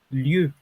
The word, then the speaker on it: lieu: se pronuncia? Oui, très bien. On peut dire lieu.